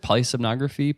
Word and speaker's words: polysomnography: and sub nog Rafi how do you pronounce it polysomnography ply sonography yeah that's right yeah it's not an